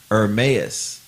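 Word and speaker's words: Ermias: She pronounced it Hermes.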